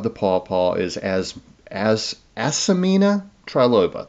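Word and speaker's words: Asimina: pawpaw is as as asamina triloba there's actually a little I in there that's kind of hard to pronounce I usually say asmina it's Aina so as s i m i n a triloba more commonly known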